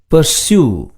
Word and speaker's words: pursue: Pursue. UE என்ற எழுத்துக்களில் முடியும் பெரும்பாலான சொற்களில் இறுதி எழுத்தான E சைலண்டாக வரும்.